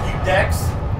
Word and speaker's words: Ludex: It's pronounced Ludex.